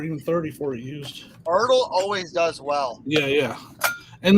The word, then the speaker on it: ERTL: Is it pronounced Ertl? Ertl, yeah. Or do you spell it out? I've always heard Ertl.